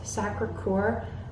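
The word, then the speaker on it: Sacré-Cœur: that was really obnoxious sacre couer is the American way to pronounce it the big church in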